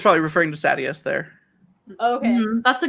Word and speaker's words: Sadeas: So how do you pronounce Sadeas? I thought it was Sadeas. You say the audiobook says Sadeas, yeah.